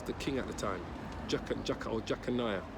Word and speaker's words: Jeconiah: Jeconiah, his name is pronounced.